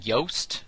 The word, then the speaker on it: Yoast: first name is pronounced Yoast and that's why the website is Yoast just like toast why Oh ast com